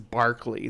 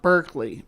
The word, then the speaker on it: Berkeley: I'm calling you Zebra because we're using British pronunciations today. Hi, Zebra. And this is Berkeley. This place is Berkeley Square, not Berkeley. Berkeley.